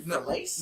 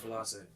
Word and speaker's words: Frilace: Is it Frilace? No. It's Frilace. Frilace.